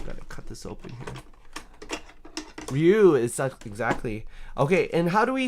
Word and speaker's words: Ryu: Ryu is such... Exactly. Okay, and how do we say his name in English? It's Ryu. But in Japanese, it's Ryu, which means dragon.